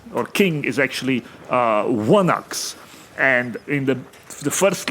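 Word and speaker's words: ϝάναξ: It's like a gamma with a line through it and it's a W sound.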